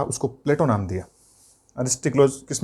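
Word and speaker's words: Πλάτων: जो एरिस्टोक्लिज था उसको प्लेटो नाम दिया। एरिस्टोक्लिज किस में बदलता है, प्लेटो में। प्लेटो का जो वास्तविक उच्चारण है, प्लेटो शब्द है उसका जो वास्तविक उच्चारण है वो प्लाटोन है।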